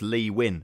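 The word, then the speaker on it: Nguyen: that is just wrong it's Vietnamese and apparently it's a very weird pronunciation for Vietnamese to English so it is just leeuwin apparently that's essentially how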